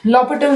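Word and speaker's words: L'Hôpital: H silent इसमें लॉपिटल rule. लॉपिटल rule is very very important as फॉर as your competition exams are concerned. H silent रहता है इसमें, हॉस्पिटल नहीं बोलते, लॉपिटल rule बोलते हैं इसको, ठीक है.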